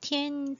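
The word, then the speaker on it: 滇: 이 전족, 티엔 또는 전이라고 이거 한국에선 전이라고 읽어요.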